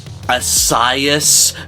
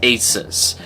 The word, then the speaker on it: Asus: Okay, asus is short for the latter part of the word Pegasus.